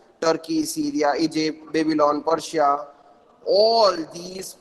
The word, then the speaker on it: Syria: to pronounce it turkey this is not sairia this is syria okay in the last